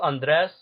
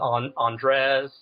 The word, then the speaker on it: Andres: Is it pronounced Andres or Andres? Technically, it's pronounced Andres, but I've throughout the years I've heard people refer to it as Andres. Wait. Your name is Andres? Well, if you add like a Spanish accent to it, but I'm totally going to call you Andres.